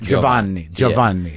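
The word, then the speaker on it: Giovanni Ribisi: How do you pronounce it? Do you pronounce it with an Italian flair? I mean, I guess so. It's in between an English and an Italian sort of, dialect, I guess.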